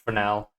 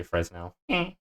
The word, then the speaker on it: Fresnel: the object, I low-key might just do the Fresnel thing.